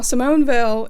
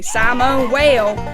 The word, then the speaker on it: Simone Weil: the topic today now Simone Vil if you have a problem with my pronunciation take it up with the fact that I'm not French I am am Appalachian though so just be glad I didn't say Simone whale Simone was a French philosopher